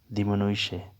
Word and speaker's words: diminuisce: کم کرنا۔ diminuisce، کم کرنا، تو اس کا تلفظ ہوگا diminuisce، diminuisce، diminuisce، diminuisce۔ تو جملہ ایسے بنے گا، lui